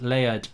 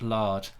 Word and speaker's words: Laird: Ethan large name rights it's pronounced Laird not large says David Alfred I'll